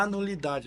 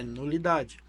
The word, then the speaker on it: nulidade: eu quero a minha an nulidade não pera aí você já tá errado na pronúncia é nulidade só que esses casais